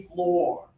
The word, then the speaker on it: floor: Also, even though it has a letter O, frequently we think oo means ooh like like food, right? No, not in this situation. The spelling is strange. This is actually floor.